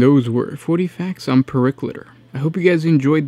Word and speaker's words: Periclitor: I looked it up, it said that it was a Latin term, so it would make sense that it gets said all in one word, so not one syllable, but Periclitor.